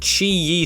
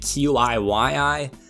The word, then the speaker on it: Qiyi: It's a generic Chi-Yi 3x3 from back when Chi-Yi was not a reputable brand. Nobody even knew who they were. Everyone called it QIYI because nobody knew how to say it.